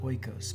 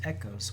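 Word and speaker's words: οἶκος: the greek word echos looks like oikos but it's pronounced echos which ultimately becomes the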